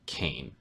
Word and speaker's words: Kayn: to be talking about the new champion revealed cane or as I may call them when people pronounce his name differently than what I say